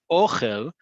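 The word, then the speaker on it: אוכל: This first word here in Hebrew and in the transliteration, ochel, where the emphasis is on the first syllable, on that o.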